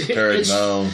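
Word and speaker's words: Pérignon: It's Perignon. It's remember, French. it's French, so you don't pronounce half of it.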